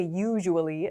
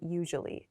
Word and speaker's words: usually: usually usually i said usually just now you might hear some people say usually as well but in most cases we say usually usually and interestingly this